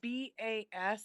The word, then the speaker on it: Basham: like me to connect with my dad donald basham can you say his last name one more time yeah it's b-a-s-h-a-m it's pronounced basham basil basham basum so donald basham right yeah how long